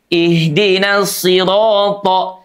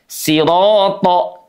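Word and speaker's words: صراط: Rnya dalam keadaan fathah dia dibaca menbal. Siro siro siro tidak siro siro siro beda ya antara bunyi tipis dengan tebal.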